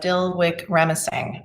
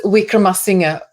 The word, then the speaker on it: Wickramasinghe: And of course, you're speaking about Dilwik Ramasinghe. I'm sure I'm pronouncing that perfectly. It's Wickramasinghe. It's yeah. So not quite what I said.